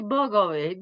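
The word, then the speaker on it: Bogović: It is She correctly say Bogovic.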